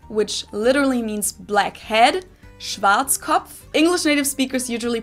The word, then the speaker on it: Schwarzkopf: Because anything W is a V.